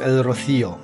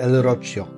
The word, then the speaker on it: El Rocío: Jesteście z nami w El Rocío, bo tak się prawidłowo wymawia nazwę El Roche.